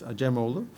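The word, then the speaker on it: Acemoğlu: and Robinson and uh my pronunciation of aju is the correct one because I'm Turkish it's aju and my pronunciation of Jaworski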